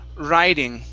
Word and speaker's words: riding: And this word here is pronounced riding with a long I.